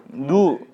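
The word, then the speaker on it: ν: 근데 이게 누라고 해서 원래 물리책에서도 이렇게 표현 더 많이 합니다. 근데 이제 그 누라고 해요. 누라고 읽어요. 유라고. 누.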